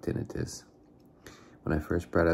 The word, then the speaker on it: tinnitus: I believe it's pronounced tinnitus.